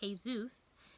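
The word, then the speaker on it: Jesús: from Greek mythology because Jesus is pronounced hey Zeus in Spanish in Zeus so much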